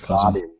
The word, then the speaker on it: Baden: Well, no, it's Baden, like B-A-D-E-N, but they call it, it's like Biden. Oh, okay. It's pronounced Biden.